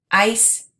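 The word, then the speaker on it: áis: Ais. An. O. As. A. Amos. Ais. An. This one is pronounced ice, like ice cubes.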